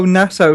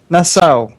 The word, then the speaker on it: Nassau: Nassau. Nassau? It's like a. I Yeah, think it's like it's a place in the Caribbean.